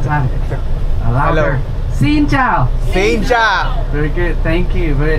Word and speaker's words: Xin chào: Xin chào. Xin chào. Yes. Can we do it together after me energetically? Xin chào. Xin chào. One more time. Louder. Hello. Xin chào. Xin chào.